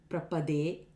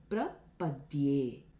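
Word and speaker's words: प्रपद्ये: It is not prapadye, prapade, prapade, etc. All these are wrong pronunciations. It's prapadye, I surrender.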